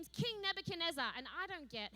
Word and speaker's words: Nebuchadnezzar: his name is King Nebuchadnezzar and I don't get how parents named their kids in the Bible I don't pretend to know why he has NE five syllables feels like too many syllables does it not does